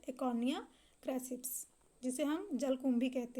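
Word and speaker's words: Eichhornia crassipes: तो जो आपका सही आंसर है वो है एकोर्निया क्रांसिपस। इसमें शायद मिसप्रिंट है, जो इसका सही उच्चारण है उसको एकोर्निया क्रैसिप्स कहते हैं, एकोर्निया क्रैसिप्स।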